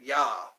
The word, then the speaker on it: Jah: I have on there Jah or yah that's how you say it yah J is Jamaican I